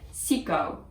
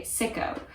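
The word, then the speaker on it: Sicco: it is also used i believe they would pronounce it siko but the way that i would pronounce it as a native english speaker if i was outside of the netherlands or outside of germany i would say sicko which would make somebody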